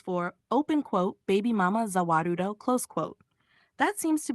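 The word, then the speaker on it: Za Warudo: Zawarudo is simply the Japanese pronunciation of the world.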